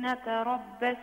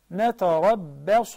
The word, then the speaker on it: نتربص: I want you to go back and pronounce the صاد in the previous two words, a صاد, not a سين. So it will be. You pronounce this right. I want you to say نتربص به ريب المنون then قل تربصوا.